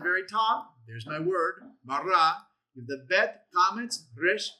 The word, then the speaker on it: bara: So, they've got it written in English, pronounced for us, meaning this is how you actually say it, bara, and even if you